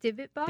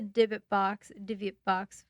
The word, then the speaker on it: Dybbuk: Divot box? Dybbuk. Dybbuk.